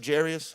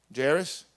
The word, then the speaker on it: Jairus: the the home of do you all say gyrus of Jarius how y'all say it how you say it Jairus like he went to Jared and Jared Jairus one called gyrus Jarius you know what I'm